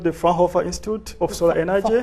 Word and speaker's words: Fraunhofer: Yeah, the institute is called the Fraunhofer Institute of Solar Energy. Fraunhofer.